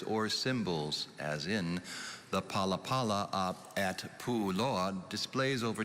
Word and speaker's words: palapala: of ideas words or symbols as in the palapala at pu load displays over 23 000 petroglyphs on a hardened lava bed palapala can you please repeat the language of origin hawaiian paula paula p a l a p a l a